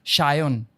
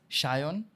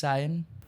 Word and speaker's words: Sayan: a y n but it's supposed to be pronounced as Shon in my mother tongue it's pronounced as shyon oh Shion Shion Shion h a y o